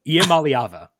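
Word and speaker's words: Iamaleava: Nico Yamalyava.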